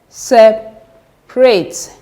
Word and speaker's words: separate: Then separate. Separate. The third syllable from the end, from here, second one.